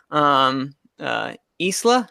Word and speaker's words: Isla: also it also Fisher that's the wrong Fisher Isla how do you pronounce her first name the girl in a